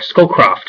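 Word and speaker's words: Scowcroft: that were given to Brent scull coft or skull coft is how you say his name uh the National Security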